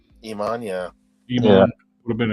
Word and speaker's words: Iman: I always thought that model Iman, or how do you pronounce her name? Iman, yeah.